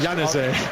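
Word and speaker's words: Januzaj: It was in the corner there by, how do you pronounce that again, Giles? Yanazé.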